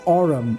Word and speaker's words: Aurum: That's Aurum. Aurum as in gold. Yeah, that's just a mispronunciation right there. I know that for a fact. That's Aurum because think about it. That's where, if you think of gold's elemental symbol, AU comes from Aurum.